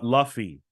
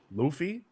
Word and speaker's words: Luffy: that very quickly uh Luffy it's not pronounced Luffy ohy Luffy like the thing you wash your body with yeah Luffy alofa yeah